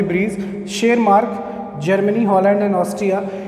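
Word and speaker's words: Tschermak: Correns, Hugo de Vries और शेरमार्क। T silent है बेटा इसमें।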